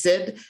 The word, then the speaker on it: CID: As a quick aside, CID is sometimes pronounced just SID, and I'm going to try not to do that.